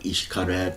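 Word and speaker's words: Xcaret: at a place called Ishkaret or Shelha, Ishelha. The X is Ish in the Mayan pronunciation system. It seems like for the Mayans, Ishkaret was a loan word.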